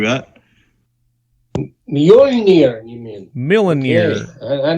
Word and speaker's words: Mjolnir: Milnor's. Right? Thor's hammer, right? Something like that. Mjolnir, you mean?